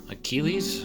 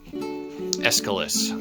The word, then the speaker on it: Aeschylus: And then we've got, I'm trying to remember how to pronounce the author of the Orestia, Achilles. I guess we'll open this one up. Aeschylus.